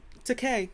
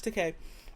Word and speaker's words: Takei: I love Wikipedia because it's gonna tell me how it's pronounced. Takei, George Takei.